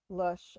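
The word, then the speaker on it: Lösche: It's just L-O with an umlaut over it, S-C-H-E. Lush.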